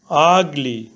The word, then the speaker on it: ugly: আগলি, এখানে ইউ এর উচ্চারণ বাংলা বর্ণ আ এর মতন হয়েছে।